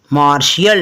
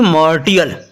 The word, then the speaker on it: martial: तो इसलिए हमने यहाँ पर भी यह मैं दर्शा रहा है कि IA होने के कारण हम इसको क्या बोलेंगे? मार्शियल, ना कि मार्टियल।